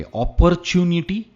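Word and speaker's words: opportunity: अपॉर्चुनिटी, अपॉर्चुनिटी। Again यहां पर are pronounce नहीं होता है, इट्स अपॉर्चुनिटी, अपॉर्चुनिटी।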